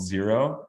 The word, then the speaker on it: Xero: work with a company called zero x-e-r-o and it's spelled like Xerox without the last X if you've never heard